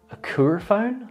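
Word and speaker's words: Akouphone: So yeah, it makes sense that the first hearing aid was called the Acouphone, I think is how it's pronounced, A-K-O-U-P-H-O-N-E.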